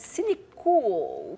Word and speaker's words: Cinecool: não gosto muito, Cinecool, cool no sentido de cool, né, É que em inglês, né, C-O-O-L, é que em português fica sempre uma coisa meio esquisita. Esse L é importante na pronúncia, né? Talvez seja o caso de acentuar o L do final, para evitar mal-entendidos.